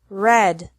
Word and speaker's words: read: met lead lead lead another group has EA pronounced differently from the present to the past and past participle deal delt delt mean meant meant read red red he heard heard